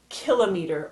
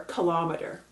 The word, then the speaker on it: kilometer: meter decameter hectometer and kilometer or kilometer depending on how you pronounce it all units used to